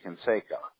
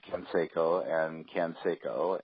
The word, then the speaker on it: Canseco: the name of Jose Canseco. And Lon was referring to him repeatedly as Canseco, and Bill finally interrupted him and said, "You know, Lon, he's Hispanic. That's pronounced Canseco.